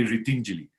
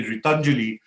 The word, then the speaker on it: Ritinjali: In Sanskrit, it means helping hands if you say Ritinjali. But if you're a good Punjabi and you say Ritanjali, then it means empty hands. So we have to be very careful of the Punjabi pronunciation of my NGO, right? So but most people in northern India say Ritanjali, so I have to keep telling them, no, it's Ritinjali, which meant helping us.